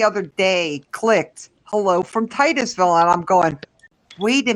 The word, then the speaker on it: Titusville: Well, I don't know how to pronounce Bernie, it. he said Titsville. Every time you Well, come on, wait. it's Titusville.